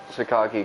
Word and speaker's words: Sakaki: Why would Sukaki do something like that? I'm saying it Sukaki cuz that's how they say it.